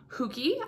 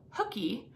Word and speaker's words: Hooky: to me before um some of you might call it hooky because you pronounce it like hook like right like Captain Hook um I was raised by minnesotans so I over pronounced my O's so I call it hooky but you might call it hooky so let me know I guess how you pronounce it do you say like hap like Captain hooky or do you pronounce it like me huki um but either way